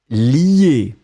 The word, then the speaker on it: lier: Donc on le prononce li, mais on va l'écrire L-I-E.